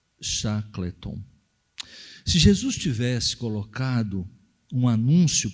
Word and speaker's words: Shackleton: assinado pelo conhecido explorador do ártico ser Ernest Shackleton que é assim que se pronuncia considerado um herói tendo sido inclusive condecorado